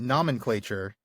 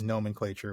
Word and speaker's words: nomenclature: Because we've we've apparently been saying nomomenclature a lot and I I think that's my my Latin training creeping in. I I don't know why I have kind of a mental block on that word, but yes, it is nomenclature. We had a listener reach out to us recently and say, "Come on, guys. It's nomenclature, not nomclature."